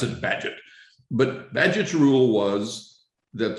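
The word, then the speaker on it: Bagehot: at that but you might think it was beige hot and they pronounced it paget but badget's rule was that the role of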